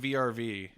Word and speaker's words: VRV: at some point but is it actually pronounced verve or is it vrv it's verve it's verve okay no one's told me